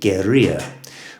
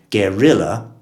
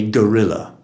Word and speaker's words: guerrilla: a y sound but on entering the english language it's got a hard l sound at the end of it so we have to be careful to distinguish between a guerrilla and a guerrilla guerrilla someone with a